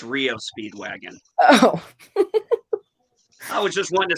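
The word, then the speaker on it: REO Speedwagon: would pronounce it Aros I pronounce it Rio Speedwagon not Ario okay Paula Paula so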